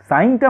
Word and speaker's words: sine: Theta, যেটাকে আমরা SINE সাইন বলছি। এখানে কিন্তু SIN কিন্তু সিন নয়, এখানেও উচ্চারণটা সাইনই বলতে হবে।